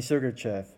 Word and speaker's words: Sergachev: I mean, Sergachev. There you go. That's how you pronounce his name.